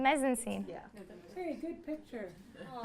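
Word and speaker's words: mise-en-scène: yeah, that would be the, I can't say it right, but I know the word, the mezzanine. mise-en-scene.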